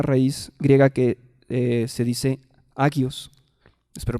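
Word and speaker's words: ἅγιος: Santo proviene de una raíz griega que se dice agios. Espero pronunciarlo bien, agios.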